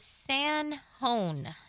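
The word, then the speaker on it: San Jon: And June Bug said it is San Hon, New Mexico, pronounced H O N E on the interstate close to Tukum Kerry.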